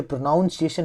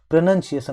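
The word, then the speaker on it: pronunciation: फिर इंटोनेशन ठीक है ध्यान रखिएगा ये प्रोनाउंस एशन नहीं होता क्या होता है प्रोनंसिएशन होता है प्रोनाउंस एक वर्ब होती है जिसमें आईजी फॉर्म यहां लगी हुई है अगर ये वर्ब के रूप में काम करता है तो आपको प्रोनाउंस बोलना है लेकिन जब ये नाउन है प्रोनंसिएशन तब यहां पर इसमें ओ नहीं आता सिर्फ एन यू एन होता है ठीक है नेक्स्ट वर्ड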